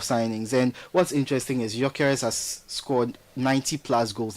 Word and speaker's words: Gyökeres: How do you pronounce that name? Gyökeres.